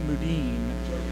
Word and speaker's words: Mudine: Pronouncing the name Muncie all night, but it's Jody Mudine.